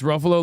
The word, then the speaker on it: Ruffalo: It's Ruffalo like Buffalo, guys.